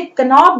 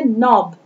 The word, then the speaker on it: knob: देखिए KNOB, आप इसे कनॉब नहीं पढ़ेंगे, आप पढ़ेंगे इसे नॉब।